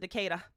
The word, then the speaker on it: Decatur: mom has limited relatives in decatur uh they pronounce it decatur uh la havana cuba nassau bahamas and those